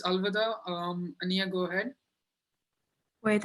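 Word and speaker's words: अलविदा: south africa really said it's in hindi it's alvada um ania go ahead wait i just forgot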